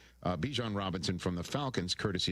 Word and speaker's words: Bijan: And I just said, like, I pronounce it Bijan, but my mom, you know, her pronunciation for it is Bijan.